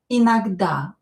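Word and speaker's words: иногда: Inagda o not stressed is pronounced as a.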